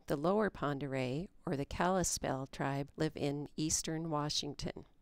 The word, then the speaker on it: Kalispel: The Pend'oreilles called themselves Kalispe, and that became mispronounced into Kalispell.